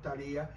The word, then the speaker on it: Talía: Talía, Talía en castellano, Talía con acento en la I.